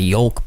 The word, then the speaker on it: yolk: I trust you so much, but I just can't get enough of that yolk, baby. Ooh. Yeah, that couldn't have been. You pronounced the L in yolk.